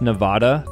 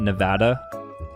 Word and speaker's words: Nevada: That's Nevada, not Nevada, but I'm East Coast. His pronunciation is typical of an East Coast. Nevadans would pronounce it closer to something like Nevada.